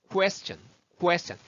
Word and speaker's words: question: 이렇게 QU 발음은요. 우리가 좀 잘해야 돼요. 그래서 question이 아니고요. question.